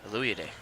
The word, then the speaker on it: Aluyade: Olade lays it in. Did I say that right, Dylan? Aluyade? Aluyade.